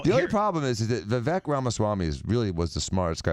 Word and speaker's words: Vivek Ramaswamy: Vivek Ramaswamy. Vivek Ramaswamy.